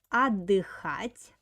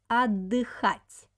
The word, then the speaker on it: отдыхать: Next verb is отдыхать. Pay attention on the pronunciation. We have here t and d together. When we pronounce this word, we don't pronounce t, we pronounce like double d. Отдыхать.